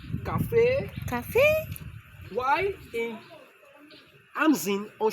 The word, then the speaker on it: 咖啡: It means pronounced as cafe. cafe.